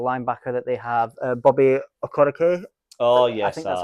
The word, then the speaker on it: Okereke: I like the middle linebacker that they have, Bobby Okereke. Oh yes, I think that's how you say his name. Okereke, yeah.